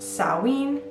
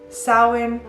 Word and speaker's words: Samhain: So it can be pronounced Samhain, Samhain, or Samhain.